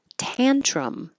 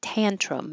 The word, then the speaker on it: tantrum: umpire umpire mournful mournful tantrum the vowel is a like hat tantrum it usually goes together